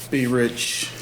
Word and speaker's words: B R$CH: Be rich. That's it, B as in boy.